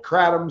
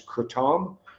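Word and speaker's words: kratom: Some people call itratom, some people call it. The uh official pronunciation I believe after looking it up is cretam.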